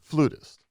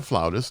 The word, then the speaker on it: flautist: bad classically trained alleged flutist right alleged it's a sauced yeah or a flautist depends on how you want to produce and pronounce it who apparently never heard